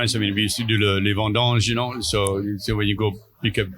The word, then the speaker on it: les vendanges: Les vendanges. Les vendanges.